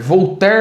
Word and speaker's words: Voltaire: ah tá vou ter voltar muito famoso no ministra se escreve voltaire mas se fala voltar voltar foi um grande